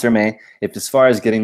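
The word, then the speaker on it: Hermès: Okay, it's pronounced Hermes. Thanks, Karen. Pronounced Hermes.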